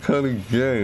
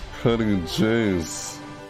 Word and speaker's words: Cutty J's: You said Cutty Gay instead of Cutty Jays. What the heck, dude? You mispronounced his name. What's wrong with you? Yeah. What the heck, Lonely Llama? That's Cutty J's. Not gays.